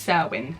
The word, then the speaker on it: Samhain: Pronounced Samhain.